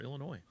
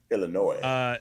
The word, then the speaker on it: Illinois: So I guess the S is silent. Right. Illinois.